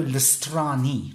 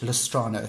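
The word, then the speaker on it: Listrani: Arno oh my god and I'm gonna pronounce this innominate pronounces wrong his name is Fabio lost Ronnie not lost rano fabulist Robbie this is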